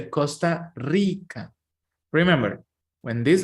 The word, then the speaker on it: Rica: Honduras Nicaragua this letter the letter R when it's at the beginning of the words is the most difficult letter to pronounce but all people I mean all my students in Spanish have troubles with this letter but is like Rica this letter is like to move your tongue really fast they're like and it's